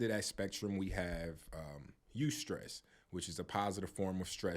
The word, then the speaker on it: eustress: And that word for positive stress is eustress, and that's spelled EUSTRESS, right?